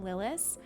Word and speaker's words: Lilas: Um, if anybody's new to the channel or to me, uh, I I pronounce my name Lilis.